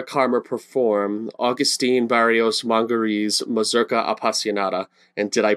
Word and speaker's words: Mazurka Appassionata: And you've just heard Lyra Carmer perform Agustin Barrios Mangore's Mazurka Appassionata. And did I pronounce that correctly?